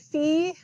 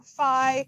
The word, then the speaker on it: Phi: Tau Epsilon oopsilon and fee or Phi Chi PSI or PSI so it's kind of like tomato tomato you might hear it pronounced differently depending on whatever um and sometimes there's